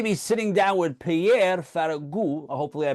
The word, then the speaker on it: Ferragu: I'm excited to be sitting down with Pierre Faragu. Hopefully I pronounced it correctly, who is the lead producer of the Bernardet the musical, which will be out later this month.